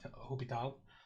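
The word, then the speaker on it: L'Hôpital: Hopi tall's rule sometimes you see it as l'hospital's rule it is pronounced it okay hope it out the French guy predictably he might have been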